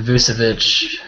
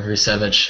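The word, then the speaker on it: Vučević: Yeah, and then Vucevic, or Vucevic, however you want to pronounce it.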